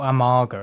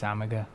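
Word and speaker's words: Amager: and am amaga out amaga is that how you pronounce it amaga I don't think it's amga don't pronounce it amga ever again hey Willi or here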